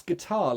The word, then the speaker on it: guitar: a very good question why don't we pronounce guitar like what how would it be that my brain can't do that switch but yeah so this all has to do with stress water the stress is on the first syllable guitar the stress is on the second syllable so this is about